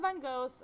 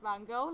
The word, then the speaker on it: Van Gogh: His name is commonly pronounced Van Gogh, like I'm saying in this video, but it's actually pronounced Van Gogh, so it depends on how good your Dutch is.